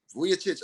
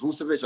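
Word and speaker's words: Vučević: I want to say Vucevic. I don't want to say his name wrong because it's Vucevic.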